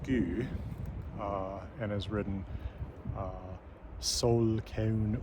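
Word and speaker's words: ský: So I can tell you that, for example, the word this comes from in Old Norse, which is pronounced sku, and is written sol keun ur in Younger Futhark runes, that this is ultimately from an Indo-European root that means to cover.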